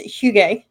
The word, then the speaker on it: hygge: I think it's pronounced hygge, and that is the concept of Danish coziness, and it think slippers